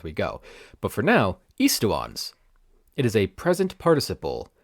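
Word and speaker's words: aestuans: And that's how the song is pronouncing it, estuans, instead of what I think should be eastuans.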